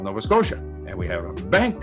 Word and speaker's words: Scotia: nova scotia s-c-o-t-i-a scotia my father can pronounce she he can make the sound shu but to him nova scotia is nova scotia nova scotia because it's t-i-a he cannot break the